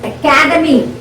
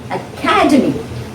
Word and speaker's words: academy: now see this is academy the second syllable is stressed academy now when you pronounce